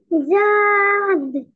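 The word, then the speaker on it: ض: এই যে দেখেন জিহ্বাটা দুই দিকে লেগে যাচ্ছে না দাঁতের মাড়ির সাথে, এরকম না। ঠিক আছে, এভাবে উচ্চারণ করতে হবে।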